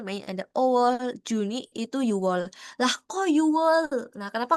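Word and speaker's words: 유월: Nah, dia bilang itu bacanya Yuwol bukan Yukwol gitu karena dia tuh pacim gitu konsonan ya.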